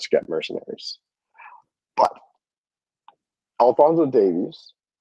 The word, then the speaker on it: Davies: know sorry is Alonso what sorry it's Alonso Davies not Davis and I get it that's how you say that's how you guys say it but it's Davies DAV okay yeah so it's weird a Canadian